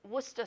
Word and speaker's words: वूस्टर: बहुत सारी चीजें साइलेंट है इसमें। अच्छा हां इट्स वस्टर sauce. This is sophisticated. It's वस्टर sauce. वूस्टर sauce.